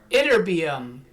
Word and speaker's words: Ytterbium: And that's going to be the, watch how you pronounce this, it's Ytterbium. Ytterbium, not titanium, but Ytterbium.